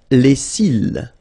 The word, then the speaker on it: cils: Les cils. Les cils. Final S not pronounced. Les cils.